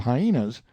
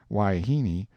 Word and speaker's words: wahine: harem full of hyenas wahine most generally pronounced waiheeni seems to answer for wife woman and female of questionable character indifferently i never can get this man brown to understand that hyena is not the proper pronunciation he says it ain't